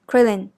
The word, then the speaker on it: クリリン: as you can tell be careful when you pronounce that are sound in japanese the tip of your tongue lightly touches or flaps the gums behind the back of the front teeth this is closer to the sound of T or L